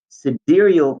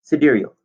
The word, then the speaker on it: sidereal: so write that down sidereal you see it spelled in the title s-i-d-e r-e-a-l or side real as i humorously pronounced it sometimes to myself sidereel one period of motion